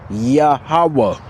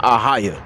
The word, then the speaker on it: YaHaWaH: How you going to tell somebody the name of the most high is a highaya? That's like you referring to yourself. All right. You can't address the most high like that. Aaya.